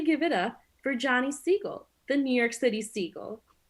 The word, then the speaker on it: Siegel: it's me johnny siegel that's s-i-e-g-e-l siegel not to be confused with c goal the species to which i belong but you could tell that from the difference in pronunciation siegel seagull thank you for having